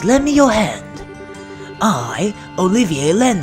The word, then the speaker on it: Olivier: sorry Olivia oh by the way his name is uh Olivier that's how it's pronounced during its I keep call me maybe that's a good nickname for him but let's stick with the official name Olivier or the official pronunciation yeah all right